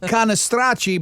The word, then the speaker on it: Cannistraci: I would have said Cannistraci, but it would have had to have. Well, that's the correct way.